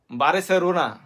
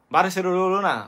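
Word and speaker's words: Barcelona: এই জাপানিজ উচ্চশিক্ষিত তারা বলবে কি বারেসেলোনা, না লোনা বলবে না, এটা বলবে হেরা বলবে বারেসেলোনা, কিন্তু স্বাভাবিকভাবে কিন্তু উচ্চারণটা হয় বার্সেলোনা, কিন্তু এরা কইব বারেসেলোনা, এরকম আর কি বিষয়টা।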